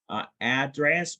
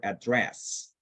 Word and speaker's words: address: It doesn't really matter if you say address or address.